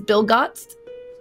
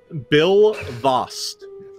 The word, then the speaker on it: Bilvost: the delay and so i keep saying the name wrong is bill gotz bill vost great b-i-l-v o-s-t yeah there you go as